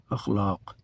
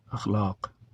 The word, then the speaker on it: اخلاق: آج نہیں پوچھوں گا کہ اس لفظ کا تلفظ کیا ہے اور کیا پڑھتے ہیں اسے آپ، بلکہ بن پوچھے بتاؤں گا۔ اخلاق، اخلاق جمع ہے خلق کی، عربی زبان کا لفظ